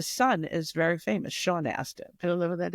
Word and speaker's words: Astin: Not Austin. Aston. Is it spelled like Aston? Astin. Astin. Yes.